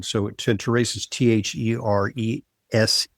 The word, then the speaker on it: Therese: So terrace is t h e r e s e sometimes uh you know pronounced uh European way but it's theres here.